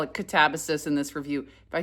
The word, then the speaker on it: Katabasis: So, originally she called this book Catabases. Then she learned that in Greek it's actually catabase is how you're supposed to pronounce it.